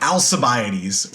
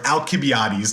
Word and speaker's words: Alcibiades: This guy by the name of Alcibiades, or Alcibiades, depending on your pronunciation.